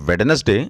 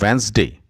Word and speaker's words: Wednesday: This is not Wednesday, this is Wednesday.